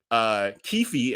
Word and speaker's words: Keffe D: So only the guy, Keffe, as y'all telling me it's pronounced, and I just heard